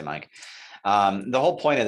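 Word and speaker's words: MAEC: on each of these this is usually pronounced mic i know it looks like make but whatever they say mike um the whole point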